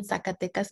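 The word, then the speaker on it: Zacatecas: is carolina ortiz and i was born in sakatecas mexico which great job pronouncing it by the way because it's not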